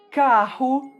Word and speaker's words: carro: Palavras que terminam com a letra O, em português, sempre são pronunciadas com o som da letra U. Alguns exemplos são rato, carro, barco e até mesmo meu nome, Diego.